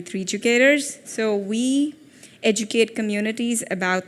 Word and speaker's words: 3Educators: I know it's very hard to pronounce, 3D Educators, or it's actually 3Educators.